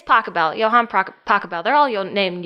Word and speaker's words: Pachelbel: by a German guy who I'm going to mispronounce his name. Johann something? Oh, Pachelbel. Yeah, but they do like a... Pachelbel. It's Pachelbel.